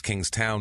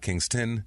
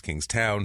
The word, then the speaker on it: South Kingstown: This is South Kingtown, Rhode Island, and it's King's Town, not Kingston. It's King's Town.